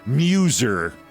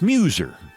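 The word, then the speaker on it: Meuser: Representative Dan Muser, pronounced like muse, spelled like mouser. Like the rifles the Nazis used in World War II. Just to keep it clear, it's Muser.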